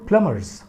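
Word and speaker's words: plumber: मोर प्लम्बर्स then one, यहाँ प्लम्बर मत पढ़िएगा, प्लम्बर, बी साइलेंट है, प्लम्बर्स दैन वन वर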